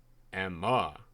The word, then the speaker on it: Emma: The part spelled Leigh is silent, and Emma is accented on the second syllable. Emma Kensington. Emma. Accented on the yap.